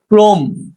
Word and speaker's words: ক্রম: 5 নম্বর নিয়মটা দেখো, শব্দের প্রথমে অযুক্ত র ফলা থাকলে সেক্ষেত্রেও শুরুর অ এর উচ্চারণ সাধারণত ওকার হয়ে থাকে।